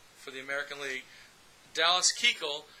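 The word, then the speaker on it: Keuchel: and not batting for the American League Dallas Kegel it's spelled que EU chal but they pronounce it Kegel all right and here is the starting lineup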